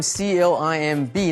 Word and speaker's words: climb: 这里我们来学 climb。climb C-L-I-M-B 呢 B 不发音，所以攀爬的这个动词 climb。We climbed a ropes course and hiked。所以这里的